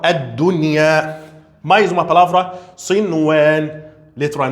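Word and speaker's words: الدنيا: Aqui temos a letra nun, depois temos a letra ya. Nesse caso, deve pronunciar nun e deve pronunciar ya. Deve falar ad-dunya.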